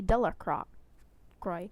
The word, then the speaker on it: Delacroix: and Harry Jones and Dicky Diller croc cry the villagers pronounce his name Delacroix eventually made a great